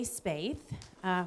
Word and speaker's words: Spaeth: Hey everybody, I'm Spaeth, rhymes with faith.